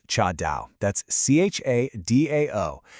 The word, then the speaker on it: cha dao: That's C-H-A-D-A-O, pronounced sort of like cha dao.